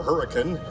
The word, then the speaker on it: Hurricane: the legendary Spitfire and Hurricane or Hurricane, as it's pronounced by those who flew them, in which the Allies went on to turn the tide of the war.